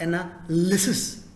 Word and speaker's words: analysis: Second one, same style, second syllable, the second part. Analysis. Analysis. Analysis. It's not analysis. Wrong. It's not analysis. Wrong. It is analysis.